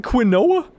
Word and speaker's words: quinoa: It looks like quinoa. It's like Quinn apostrophe Oa, but it's apparently it's pronounced quinoa.